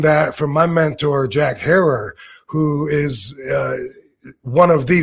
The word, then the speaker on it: Herer: Depending on where you're at, they say it different from Jack Herer, Herer, Herer, but he used to tell me think of terror.